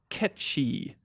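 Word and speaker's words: Cait Sith: Also, the name Kate Sith is taken from traditional Celtic folklore and is traditionally pronounced Ketchi.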